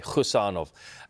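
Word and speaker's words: Khusanov: It's a silent K, Husanov.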